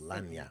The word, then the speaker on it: lagniappe: Google says it's pronounced Lagniappe.